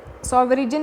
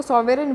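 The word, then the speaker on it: sovereign: सॉवरेजन इसको नहीं बोलते हैं, इसको सॉवरेन बोलते हैं। मैं सॉवरेजन बार बार, क्योंकि काफ़ी लोग सॉवरेजन सॉवरेजन ये गलत प्रोनाउंसिएशन है, ये सॉवरेन इसका प्रोनाउंसिएशन है, जी इसमें साइलेंट है, सॉवरेन इसको बोलते हैं।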